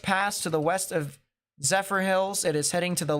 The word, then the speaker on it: Zephyrhills: uh near the uh zephyrhillis or Zephyr Hills I should say areas I think this